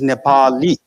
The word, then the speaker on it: Nepali: The word of Nepali language should be pronounced the way the people of Nepal pronounce themselves. The proper way to say is Nepali.